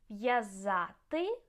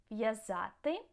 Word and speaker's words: в'язати: В'язати, to tie. В'язати.